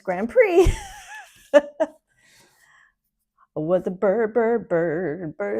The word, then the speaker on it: Grand Prix: So Prix is spelled P-R-I-X. He'd say Grand Prix. We'd be like, no, it's Grand Prix.